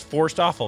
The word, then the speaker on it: Forsthoefel: pronounce your last name you gave me really great mnemonic advice forced awful that's that's really good